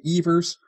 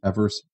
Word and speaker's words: Evers: came a thing now most people call him Johnny eavers but that was a mispronunciation technically his his name is pronounced Evers but so I may